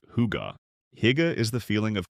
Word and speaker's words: hygge: Scandinavian design, and think Swedish, Norwegian, Danish, is built on the concept of hygge, pronounced huga.